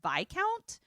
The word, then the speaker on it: viscount: And she's like, Viscount Seymour? Is he here? Viscount also is spelled discount, but with a V, but it's pronounced Viscount.